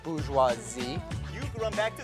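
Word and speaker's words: bourgeoisie: government of the stem Pete I believe it's pronounced booze huazi you can run back to society to give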